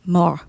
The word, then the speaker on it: mort: Le le petit petit mort, mort, M-O, mort, M-O-R-T, but the T is silent. le petit mort.